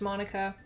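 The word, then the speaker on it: Monika: like you already know I'm assuming this is pronounced Monica is that right that's right it's great to see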